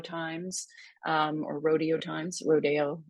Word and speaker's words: Rodeo: um or Rodeo times Rodeo is how he would have pronounced it um and uh because it was Mexican it was supposed to be you know South of the Border kind of idea and